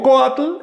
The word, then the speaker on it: coatl: Si digo coatl, el acento recae sobre la o.